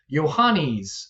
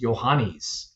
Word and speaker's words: Yohannes: Uh, and it's pronounced Yanis. Uh, yo h a n ne and pronounced Yanis.